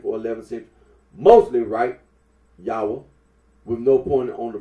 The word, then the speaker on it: Yahweh: Now, Yahweh. The scholarly considers that the original pronunciation of the tetragrammaton was Yahweh.